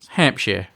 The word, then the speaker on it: Hampshire: Hampshire. Shear, is it? Like shearing a sheep.